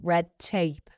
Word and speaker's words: red tape: involves a lot of red tape. In everyday English, the letter D when it's followed by a T in the next word, like it is here, red tape, well, it disappears.